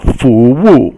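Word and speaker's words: 服务: Fu Wu. Fu is second tone or rising, and Wu is fourth tone.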